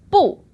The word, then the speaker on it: 不: Now in the dictionary, it's always going to be the pinyin 4th tone, 不.